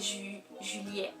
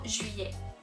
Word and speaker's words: juillet: Hay como dos maneras de decirlo, puedes pronunciar las L y que te sale juillet, juillet, o juillet, juillet.